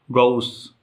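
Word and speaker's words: Gauss: अगर आप German pronunciation सुनेंगे तो गॉस बोलते हैं वो लोग, आप बोल सकते हैं, ज़्यादा बेहतर लगेगा कहीं पर भी। गॉस, गॉ बड़ा ऊ, गॉस थ्योरम।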